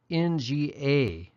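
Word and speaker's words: င: So this NGA is going to sound like nga.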